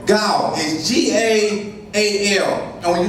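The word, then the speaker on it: gaal: Now that one is, I want to say Gal, is G-A-A-L, and when you look, the way to pronounce it is G-A-W-A-L.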